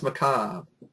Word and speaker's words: Macabre: And everybody see Frozen Terror Macob name use Macob or Macabre. I never pronounced it right when I was a kid until I It's Macob.